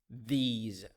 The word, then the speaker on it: these: a tip here the s in these words pronounced as as z sound those those those these so we have this that those and these